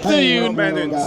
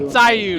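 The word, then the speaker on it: Zhiyun: You gotta say it right. You know, you gotta do it in Mandarin. It's Ziyun. Yeah, not Ziyun, right?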